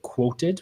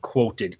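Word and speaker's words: Qwoted: talking about like a horror alternative platform called quoted with the uh how it's spelled yeah quoted q-w-o-t-e-d and it's kind of like Haro but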